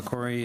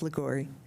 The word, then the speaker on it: Ligori: Okay, LaCory and Jim Morris. And, I'm sorry if I'm getting your name wrong. It's all right. It's Ligori.